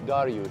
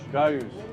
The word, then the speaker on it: Dariush: His name is Dariush. Dariush. You know, Dariush is the Persian pronunciation for Darius.